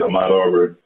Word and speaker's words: Ahmaud Arbery: I want you to tell us what's happening with this, and correct me if I'm mispronouncing the brother's name, Ahmaud Arbery? That's it, Ahmaud Arbery.